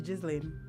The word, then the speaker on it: Ghislaine: We all keep mispronouncing this woman's name. Watch. Her name is Ghislaine.